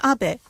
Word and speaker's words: Abe: to the White House my name is Abbe but in the United States some people mistakenly pronounce my name as ape but that is not